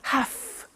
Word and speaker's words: have: pronunciation I have to notice I don't say V I say f have half it becomes have to have the two becomes in pronunciation have to have to okay so I have